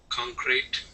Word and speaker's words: concrete: with you okay uh the first word is going to be the word concrete concrete yeah so the accent is going to go at the very beginning okay so when we're